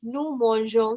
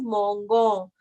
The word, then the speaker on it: mangeons: Okay, so अगर मैं यहाँ पे ई हटा देती हूँ, so this will be pronounced as mongon. So I don't want to have go sound, so that's why I'm adding e.